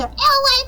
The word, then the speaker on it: Elay: My name is LA, pronounced like LA, like the city I'm not from there, but I'm breezy.